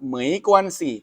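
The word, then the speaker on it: 没关系: ที่ เคย สอน ไป อ่าน ว่า เหม็น กวน สิ นะ ครับ จำ ให้ ดี นะ ครับ เหมย กวน สิ แปล ว่า ไม่ เป็น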